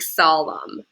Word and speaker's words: solemn: bit irregularly um but you just want to think solemn so the n is silent our next word is